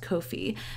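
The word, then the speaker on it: Ko-fi: coffee word but then their website is pronounced Kofi so I I like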